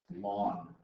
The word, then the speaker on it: ln: And usually the way we pronounce this lawn. Think of a lawn.